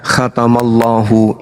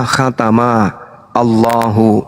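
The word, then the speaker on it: ختم الله: Nah di Al-Quran misalnya khatamallahu. Ini kalau dipisah cara bacanya adalah khatama Allahu. Itu kalau dipenggal. Tapi kaidah membacanya disebut kemudian makhraj dan nahwu Arabnya. Cara membacanya khatamallahu.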